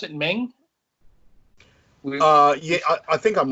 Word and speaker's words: Meng: Do you pronounce it Meng? Yeah, I think I'm wrong. Well, that's what we're wondering because I think the pronunciation is actually something like Mung.